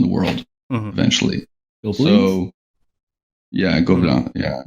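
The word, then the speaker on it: Gobelins: So, yeah, Gobelin, yeah. Gobelin, you pronounce it differently, I guess. Yeah, I kind of did the French twang to it because it just comes out of the mouth better. But anyways, the thing I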